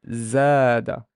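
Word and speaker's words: زاد: So I would know that this z has a fatha because there's an alif, and I would pronounce it as zada, zada.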